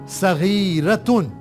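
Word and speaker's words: صغيرة: Feminine के लिए सगीरतुन, सिर्फ तुन बढ़ाने से ये फेमिनिन हो गया। अभी इस पॉइंट को आप कभी भूलिएगा नहीं। साद के ऊपर फतहा, गैन के नीचे कसरा, या के ऊपर सुकून, रा के ऊपर फतहा और राउंड ता या ताए मरबूता, उसके ऊपर तनवीन, दो दम्मा, सगीरतुन, स्मॉल फॉर फेमिनिन।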